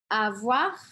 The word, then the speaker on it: avoir: Avoir. Aqui eu pronuncio esse R, tá? Importante. Avoir de la peine.